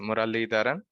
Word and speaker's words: Muralidharan: My last name is a little bit hard to pronounce, but it's pronounced as Muralidharan.